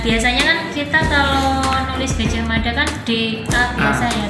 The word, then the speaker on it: Gajah Mada: Nah biasanya kan kita kalau nulis Gajah Mada kan DA biasa ya. Tapi kalau dalam pelafalan bahasa Jawa kan kedengarannya gimana? Gajah Mada. Gajah Mada. Ya Mada ya kan.